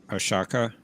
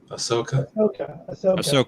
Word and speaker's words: Ahsoka: the Ashaka. Is it Ashaka? Ahsoka. Ahsoka. I knew I was saying it wrong.